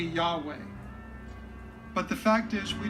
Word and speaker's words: Yahweh: for substituting Lord is because Jehovah is not the original pronunciation or that it should be Yahweh but the fact is